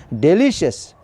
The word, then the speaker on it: delicious: Delicious is wrong pronunciation. Delicious. Delicious. Delicious. Test second syllable.